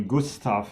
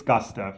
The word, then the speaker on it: Gustav: a few weeks ago i pronounced your name the german way gustav and advocate had to correct me it is gustav is that correct it